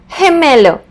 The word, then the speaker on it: gemelo: For example, the word gemelo.